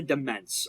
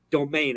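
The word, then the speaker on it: demesne: unfortunately this is just a demence or domain as it's pronounced uh spelled such as this I am typing it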